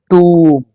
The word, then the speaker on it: tomb: This word is नॉट टम। इस word की प्रोनाउंसिएशन टम नहीं होगी। The right pronunciation of this word is tomb, tomb, tomb. It's not टम, remember it's generally or usually pronounced as tomb, right?